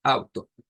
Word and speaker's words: Auto: Nótese que está esta pronunciación, pero nuevamente, insisto, este glottal stop es difícil quizás para nosotros articularlo y a veces hasta escucharlo.